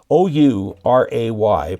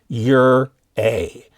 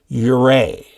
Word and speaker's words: Ouray: We have one south of here called Ouray, O-U-R-A-Y, pronounced Ur-A. Ouray.